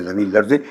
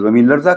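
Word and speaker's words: زمین‌لرزه: زمین لرزے، ایرانی لہجے میں زمین لرزے، ہم کہیں گے تو زمین لرزہ کہیں گے۔ کاش زمین لرزہ نمی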